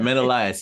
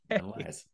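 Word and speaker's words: Menolias: Menelaus. I know. So, just remember, men are liars. Menelaus.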